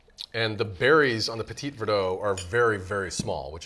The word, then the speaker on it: Petit Verdot: the Petit Verdot and is that how you pronounce it Petit Verdot that's exactly what you pronounce it yes I